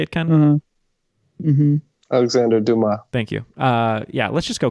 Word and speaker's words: Dumas: Alexander Dumas.